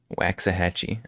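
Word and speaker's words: Waxahachie: some funny name town waxah hatchee I think that's at Le close that's at least close to how you say it but it was it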